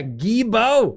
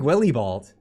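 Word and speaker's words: Guilbeault: of an extra yeah gebo yeah that's how you pronounce it that's apparently i don't know it's a french thing yes it looks like willie bald but it's pronounced guibo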